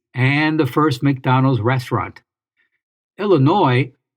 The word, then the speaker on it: Illinois: Illinois, or Illinois, which is a mispronunciation, so don't say it.